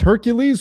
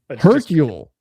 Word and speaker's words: Hercule: That's Hercules without an S? Is it Hercules? Is it Hercule? Hercule. That's how you say it, Hercule? It's just Hercule.